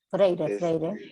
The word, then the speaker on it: Freire: ambigua, en donde dice que la crítica, para Freire, no sé si está bien pronunciado. Freire, Paulo Freire, brasileño.